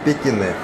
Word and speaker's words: Pequignet: французский мануфактурный бренд кине название длинное но читается как Пекине это швейцарская мануфактура что